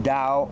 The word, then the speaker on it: Tao: your own life so the word da sometimes spelled with a d is a character made up of two other characters the word Dow way or path is